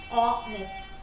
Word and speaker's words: honest: initially or even honest when we say honest we don't write o n e s t there is an edge there H is silent right so this is